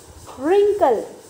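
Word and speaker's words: wrinkle: रिंकल कैसे पढ़ेंगे, रिंकल, Regal. Right, इसमें हमने डब्ल्यू को पढ़ा नहीं, ये क्या है, साइलेंट लेटर है।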